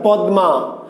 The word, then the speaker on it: পদ্মা: তার মানে আমি শব্দটা লিখেছি পদ্মা, কিন্তু তুমি উচ্চারণ করছো কি? তুমি উচ্চারণ করছো পদ্মা, পদ্মা, দয় দয়।